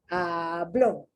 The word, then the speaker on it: habló: Hablaste, habló. The accent on the O.